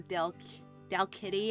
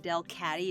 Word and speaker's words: Delcatty: Skitty Delcatty, or Dalkitty, as I always called her, but like Delcatty is how it's spelled.